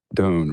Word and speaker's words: Doane: the Sand by Don. Am I saying your last name right? Yes. Dune rhymes with bone.